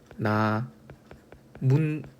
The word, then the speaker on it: 나뭇잎: 우리 나뭇잎 있죠. 자, 이 발음이 나문잎 이렇게 니은 두 개가 첨가되는 맞죠?